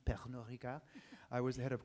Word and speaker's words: Pernod Ricard: Note the French pronunciation, Pernod Ricard.